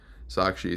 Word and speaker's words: Sakshi: Sakshi. Some people just call me Saki or Sachi.